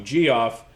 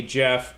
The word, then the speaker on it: Geoff: call you extreme even more people call you g off i get a lot of that too uh as a jeff whose name is spelled g off are you okay with the